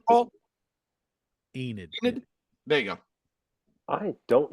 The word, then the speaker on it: Enid: Enid.